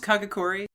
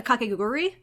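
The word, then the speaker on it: Kakegurui: paper scissors anime right is that just kagakuri i should ask kauai disappointment they've watched that show yeah kakaguri i've been pronouncing it wrong every time that's great yeah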